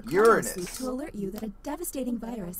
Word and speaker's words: Uranus: your okay oh jokes Uranus is how it's pronounced Uranus you that a devastating